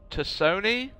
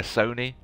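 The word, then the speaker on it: T'Soni: Wonderful theatrical voice there from Miss Liara Tosoni? Or is it a silent T like they do in South Africa quite a lot? South Africans like the silent T's, so maybe it's just Liara Sony, but I don't know if PlayStation would like that.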